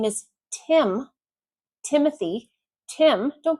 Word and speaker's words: Tim: No, it's not Team. It's Tim.